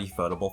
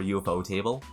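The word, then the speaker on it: Ufotable: a great anime I'm a photable fan or you bow table whichever way you want to pronounce it so I watch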